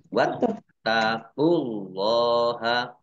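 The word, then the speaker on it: وَاتَّقُوا اللَّهَ: Wattaqullaha. Taknya dibaca double, ada tasdidnya. Wattaqullaha. Allahnya dibaca tebal karena harokat di depannya dhammah. Lam fathah berdiri mat tobi'i, panjang 2 harokat.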